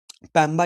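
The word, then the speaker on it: Mpemba: इसको बोलते हैं पैम्बा इफेक्ट। एम साइलेंट है पैम्बा इफेक्ट। पैम्बा इफेक्ट याद रखो।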